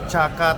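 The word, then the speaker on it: Chả Cá: Ternyata ini nama restorannya adalah Caka Tanglong. Ini restoran Ika. Iya. Bacanya caka. Caka tanglong.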